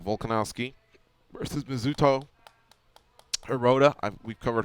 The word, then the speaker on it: Volkanovski: Alexander Volkanovski, not Volkov, Volkanovski versus Mizuto Hirota.